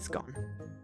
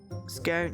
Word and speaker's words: scone: So gone that rhymes with scone with gone even from a long O scone.